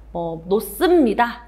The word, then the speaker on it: 놓습니다: 솔직히 말하면 크게 봤을 때 놓습니다는 히읗 다음에 시옷이 오면 쌍시옷으로 발음된다 이런 규정이 있거든요. 그래서 놓습니다 이렇게 되고요.